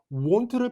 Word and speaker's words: won't: 그리고 혹시 모르는 분들을 위해서 발음을 좀 말씀드리자면 want를 발음하실 때는 입술 모양은 O이지만 발음은 우처럼 발음하셔야 됩니다.